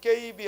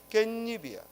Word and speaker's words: 깻잎: 먼저 깨와 잎이 만나면 발음이 깨잎이 아니라 뭐예요? 깻잎이야. 발음이 깻잎이야.